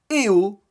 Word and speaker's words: Eo: du Jury le fameux eh oh d'ailleurs parce que ça se prononce comme ça donc exit toutes les